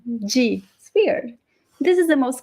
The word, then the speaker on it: de: sense it doesn't make any sense right g g sphere this is the most common pronunciation in brazil of the preposition g but some people in brazil would say de or di so this is one of those words that